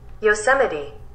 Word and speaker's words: Yosemite: is yosemite and yes i searched how to pronounce that yosemite the sun's really western just like